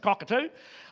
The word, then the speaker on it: Cockatoo: that they live in called Cockatoo. That's how the Australians pronounce it, Cockatoo.